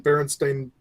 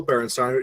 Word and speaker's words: Berenstain: And then you read the book, blah, blah, blah, Berenstain, you never realizing that there was an A there the entire fucking time and you weren't saying it right.